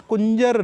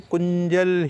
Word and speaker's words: कुंजल: गजकरणी भी कहते हैं, बट कुंजर नहीं है, इसे कुंजल ही कहा जाए। कुंज मीन्स हाथी, जल मीन्स वाटर, तो ये दोनों चीज़ें मिल करके कुंजल का निर्माण करते हैं।